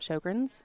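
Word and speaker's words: Sjögren's: So it's SJOGREN''S, and it's Sjogrens. You guys would be surprised many people can't pronounce it.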